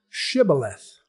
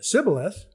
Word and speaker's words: Shibboleth: The sh is something that was not in their vocabulary.